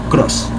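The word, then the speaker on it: Krause: Klein se escribe K-L-E-I-N, Cross se escribe K-R-A-U-S-E, Cross.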